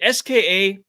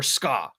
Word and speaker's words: SKA: Is it SKA or SKA? Which one is it? Both, I think. Okay. Well, it's a stupid name regardless, but nonetheless. Like it's SKA, but SKA's one syllable, right?